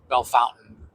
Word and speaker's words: Bellefontaine: Lots of people get confused, but it's Bellefountain. How do you get fountain out of fontaine? That's how people say it. Well, I'm not saying it's right. They say it wrong. It doesn't seem like it's right, but that's what they call it.